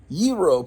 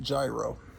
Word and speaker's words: gyro: There is a Yro place because you don't pronounce it gyro.